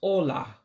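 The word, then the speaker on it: ụlọ: egde of Nigeria so house is pronounced hola hola is housed in the Ebola news of Nigeria again is hola which is house all right let me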